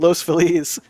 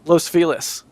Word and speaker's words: Los Feliz: I live in a spot of LA called Los Feliz, and I call it Los Feliz because Feliz Navidad.